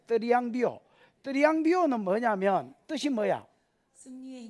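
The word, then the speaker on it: θριαμβεύω: 여러분, 드리앙이 아니고 약간 뜨 발음이 나요. 드리앙비오.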